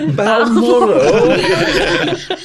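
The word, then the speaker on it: Balmoral: should have practiced this B moral that is how you have to pronounce it when you're announc moral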